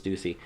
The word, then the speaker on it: Ducey: If, in fact, he does resign, Arizona Governor Doug Ducey, or Ducey, however you want to pronounce it, I think it's Ducey, will have to set a date for a special election.